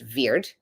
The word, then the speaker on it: wyrd: of the word word was originally wyrd pronounced veir which became the word